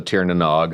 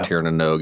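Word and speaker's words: Tír na nÓg: Um, called the Tieranog or Tieranog if you pronounce correctly, which I do not cuz I'm from here.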